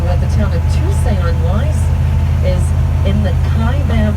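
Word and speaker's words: Tusayan: here right now is called Tuesday on that's how you pronounce this town today that translates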